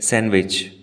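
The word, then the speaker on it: sandwich: और इसके प्रनंसीएशन देखिए अब बताइए इसमें कौन सा वर्ड साइलेंट है यहां पर भी दोस्तों दी लेटर साइलेंट है और हम इसे कहते सैंडविच कहते हैं ना मुझे सैंडविच खाने का मैन है वो गलत है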